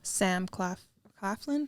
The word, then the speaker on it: Sam Claflin: Honestly, my first thought, because I had no knowledge going into this, I just was like, Sam Claflin, right? That's how you say his name.